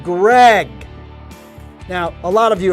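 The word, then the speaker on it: Graig: player of all time greg spelled like craig but greg now a lot of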